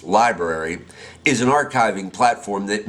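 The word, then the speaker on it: LBRY: V describes it lb ry pronounced library is an archiving platform that mirrors your channel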